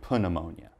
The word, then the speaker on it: pneumonia: can give you is don't say pneumonia just say pneumonia and remember it's a